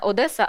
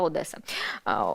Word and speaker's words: Одеса: не Днепр а Дніпро і не Одеса А Одеса Ось так ну тобто Одеса не Одеса А Одеса крім того газета критикує